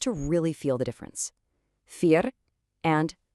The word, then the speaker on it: vier: For these two, you just pronounce the second letter. So in IE, the second letter is E, so you get an E sound. In EI, the second letter is I, so you get an I sound.